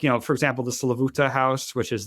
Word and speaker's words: Slavuta: I mean, if you got to think like, you know, for example, the Slavuta house, which is like the most or Slavita is how it's said in Yiddish.